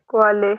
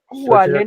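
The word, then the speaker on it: Qualle: क्वा, क्वा, क्वाले, क्वा, क्वाले, क्वाले, क्वाले मीन्स होता है जेलीफिश। वाले नहीं बनेगा। क्वाले।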